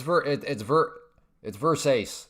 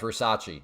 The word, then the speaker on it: Versace: No, it's verse ace for sure. There's no chance at all that it's Versace. Not even no. It's verse ace without doubt. Come on, a little bit more.